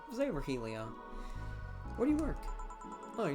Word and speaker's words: Virgilio: You look winded, Virgilia. It's pronounced Virgilio.